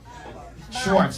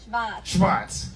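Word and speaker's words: Schwarz: Schwartz. Say it. Say it again. Schwartz.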